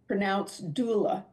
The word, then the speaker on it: doula: I just looked it up, Martha, and it's pronounced doula. Okay, doula.